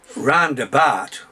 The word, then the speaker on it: Rarndabart: Because in the endemic working class Barnsley dialect, Rarndabart, what posh people say roundabout, rhymes with fart.